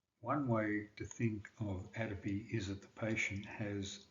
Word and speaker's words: atopy: has dermatitis asthma or hay fever people with atopy are most likely to develop dermatitis acid and